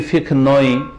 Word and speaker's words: ফিকহ: আমাদের আলোচনার বিষয়বস্তু আজকে প্রথম আলোচনা, নতুন আলোচনা, তা হচ্ছে ইসলামী ফিকহ সম্পর্কে। এই ফিকহ শব্দটিকে আমাদের দেশের লোকেরা শুদ্ধ উচ্চারণ করে না, বাংলা থেকে ফেকা করে। ইসলামী ফেকা আসলে ফেকা না, ফিকহুন মানে জ্ঞান অর্জন করা।